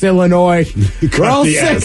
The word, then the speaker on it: Illinois: the S, Illinois.